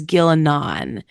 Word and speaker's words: Ghilan'nain: little bit confusing but it's g h i l n apostrophe n a i n so I pronounce that as gillon um so gillon is